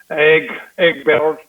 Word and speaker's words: Egberto: I want to hear you roll your R's, man. Egberto.